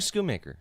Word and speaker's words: Schoonmaker: Luke Schoonmaker.